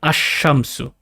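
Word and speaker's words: الشمس: read this one trade the ash shamsu we do not pronounce the lam okay we do not pronounce this lamb go straight there and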